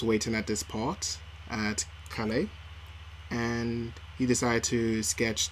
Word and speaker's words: Calais: It's in an area called Salé. Calais, is Calais, it? Calais. Sorry, I've been trying to pronounce that all day.